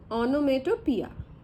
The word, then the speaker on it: onomatopoeia: इसकी स्पेलिंग होती है ओनोमेटोपोइया, है ना, लिखते हैं पोइया लेकिन क्या बोलते हैं, ओनोमेटोपिया, ठीक है। तो राइटिंग में और प्रोनाउंसिएशन में डिफरेंस है।